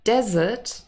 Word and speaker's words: desert: is the last meal now desert has the stress on the first syllable okay it's exactly the